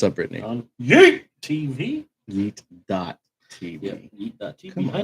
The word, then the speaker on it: Yeet TV: we don't do the dot. We just say Yeet.